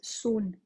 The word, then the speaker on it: Samhain: And it was also known as Samhain. You might have seen this. It actually looks like Samhain if you've seen it written down. It's pronounced Samhain.